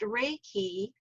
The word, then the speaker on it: reiki: in the japanese alphabet the top one is rey and the bottom one is key and so it's pronounced reiki and it means spiritual